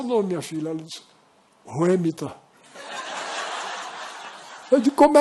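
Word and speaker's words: Whemytta: Ela disse, Ruemita. Eu disse, como é que se escreve?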